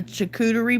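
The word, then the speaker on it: charcuterie: your own lake okay i know how to correctly pronounce it but i call it a coochie board but it's a chicoutery board we kind of always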